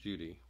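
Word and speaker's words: Cudi: shinar both eret and and cudy pronounced Judy are considered holy mountains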